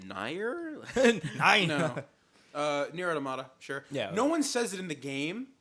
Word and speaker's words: Nier: I heard Near Automata. It is Nier Automata. Oh yeah, Okay, yeah. I thought you were talking about the Nier. I was like, did you say Nier?